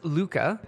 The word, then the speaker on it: Lykke: note is yes so this is Luka it's spelt ly kke but it's not like e not like E like